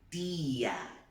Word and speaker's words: tía: A letra T, no espanhol, tem som de T mesmo, ok? Então, presta atenção como é que a gente vai pronunciar. Tía, tía, tiene. Viu que não tem esse tchá-tchá? Tia, repete.